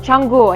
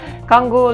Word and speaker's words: Canggu: alam yung pronunciation niya ah changu I mean chango Yeah kango like kango Iyung spelling pero changu Yeah so Pumunta ako